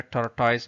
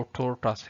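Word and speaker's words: tortoise: अच्छा, एक आम गलती जो हम करते हैं, इसको अक्सर पाकिस्तान में टर्टाइस बोलते हैं। एक स्टोरी है द हेयर एंड टर्टाइस, बट इसका असल प्रोनाउंसिएशन जो है ना वो टोर्टस है, टोर्टस।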